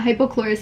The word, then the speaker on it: hypochlorous: it wrong the entire time in my yeah hypochlorous acid this is amazing this helps with acne